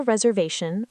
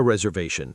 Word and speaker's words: reservation: The key phrase is make a reservation or book a table. Wait, so make a reservation, not do a reservation. Correct. Make a reservation or book a table. Pronunciation tip. Reservation. The stress is on ve.